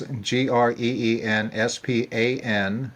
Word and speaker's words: Greenspan: That's GreensPan. No silent H in there. Greenspan.